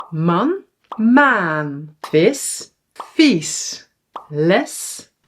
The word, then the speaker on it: maan: This is man a short and maan long a or vis short i